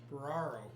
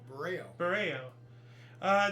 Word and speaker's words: Burao: Buraro. There is no R after A, though. Burao? Burao. Then the should make the A sound like an A.